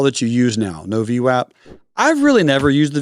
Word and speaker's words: VWAP: v-wap it's super cool also it's pronounced v-wap if anyone says WAP they're just wrong and it's okay this